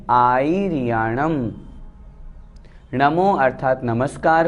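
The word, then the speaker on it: आयरियाणं: दूसरी गलती, इसमें री को बड़ी भी कर देते हैं, आईरियाणम इस तरह से कर देते हैं, वो अशुद्ध हो जाता है। इसलिए हमें बहुत अच्छी तरह से शुद्ध उच्चारण करना है, नमो आईरियाणम।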